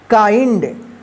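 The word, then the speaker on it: kind: इसको क्या पढ़ेंगे काइंड इसका रूल क्या है कि जब आई के जस्ट बाद एन और डी रहता है तो इस आई का आई उच्चारण होगा ठीक है इसको आप किंड मत पढ़िए ठीक है गलत हो जाएगा ठीक है क्या पढ़ना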